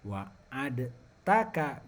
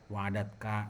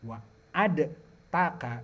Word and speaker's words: wa'adtaka: Alladzina wa'adtaka bi injaihim, yang mereka telah Allah janjikan untuk diselamatkan. Nah, itu tuh tadi ada yang baca wa'adatka, bukan wa'adtaka bi injaihim.